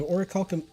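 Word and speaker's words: Orichalcum: teach quite a bit okay okay so it's or Calcom spiders so or Callum Ingot that's how it's pronounced that sounds actually pretty decent uh let's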